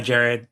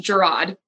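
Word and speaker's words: Jerrod: And the show was created by Jared Carmichael too, right? Yeah. Yeah. He it's pronounced Gerard. Oh, Gerard. But he is a stand-up comedian for people that don't know.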